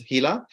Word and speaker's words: Gila: lizard called Gila monster it's spelled Gila but it's pronounced as hila which is found in